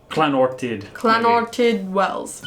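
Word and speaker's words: Llanwrtyd Wells: Alright, so I remember the double L makes a... Clanortid. Clanortid Wells.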